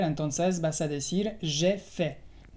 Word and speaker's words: fait: Entonces vas a decir j'ai fait. La T al final es muda.